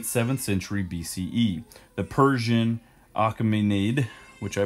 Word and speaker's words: Achaemenid: The Persian Achaemenid, which I butchered, that is spelled A-C-H-A-E-M-E-N-I-D, dynasty, was related